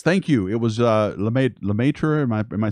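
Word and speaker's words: Lemaître: don't know yes thank you it was made Lemaitre am I saying it right yes thank you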